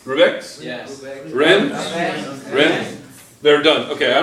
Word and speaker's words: Rennes: Rennes? Rennes? They're done. Okay, I don't want to go into the pronunciation because I'm going to...